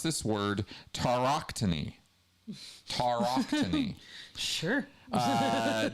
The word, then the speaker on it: tauroctony: And the central right was the Okay, I'm going to pronounce this word tauroctony.